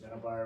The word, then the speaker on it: Middleboro: this is middleb and review it is it's midd bar and review on I heard you the first